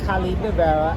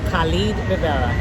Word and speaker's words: Khalid Rivera: It's at Khalid Rivera. I'll spell it Khal as in Larry, ID as in David, RIV as in Victor, E as in Eric, RA. So that's Khalid Rivera, at Khalid Rivera.